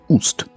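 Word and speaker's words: Ꜣst: So, let's start with the most iconic of her symbols, the throne glyph, pronounced Ust.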